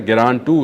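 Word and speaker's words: Geran-2: ग्रान टू इसका सही pronunciation है।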